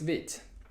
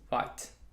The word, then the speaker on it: Vite: appreciate that alright so what is beat which is a french word meaning fast and it's not pronounced as white the initial the initial